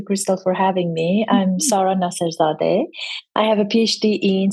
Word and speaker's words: Sara Nasserzadeh: We have not had an interview in a while, so I am very excited to bring my friend Sara Nasserzadeh.